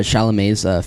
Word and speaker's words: Chalamet: did you hear Chalamet's feature on the new Tyler album?